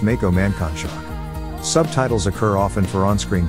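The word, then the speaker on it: Mankanshoku: is pronounced senkates her friend Mako mankonshaku is pronounced Mako mancon shock subtitles occur often for on-screen Japanese kanji so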